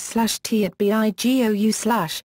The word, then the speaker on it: Tobago: Arapana, big snail, although the English pronunciation is /tṱbeɪɡoʊ/, rhyming with plumbago and sago.